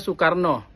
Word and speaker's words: Soekarno: Contoh Soekarno bacanya Soekarno. Guru goiru atau bacanya guru. Di mana vokal U ditulis dengan dwi huruf O E.